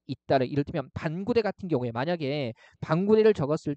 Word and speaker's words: 반구대: 그 다음에 이항 보시면 발음상 혼동의 우려가 있을 때는 음절 사이에 붙임표를 쓸 수 있다. 이를테면 반구대 같은 경우에 만약에 반구대를 적었을 때요. 그죠? 붙임표를 넣지 않으면 잘못근을 읽으면 어떻게 돼요? 방우대라고 읽을 수 있는 거죠.